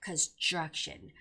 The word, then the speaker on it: construction: Construction also has that TR sound there. So even if like TR sound is in the middle, you have to make that ch sound. So it's got to be construction. Construction.